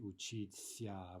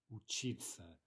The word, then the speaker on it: учиться: We don't say учиться, we say учиться.